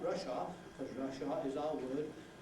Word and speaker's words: Russia: of Soviet Socialist Republics, then don't make the final A of that R, because you will be pronouncing a word that, say Russia, not Russia, because Russia is our